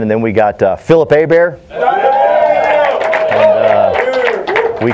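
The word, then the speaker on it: Hebert: Phil cuz his last name drives me nuts because it's spelt h-e-b ERT and that's somehow a bear and people say people say the H is silent take it out so I have renamed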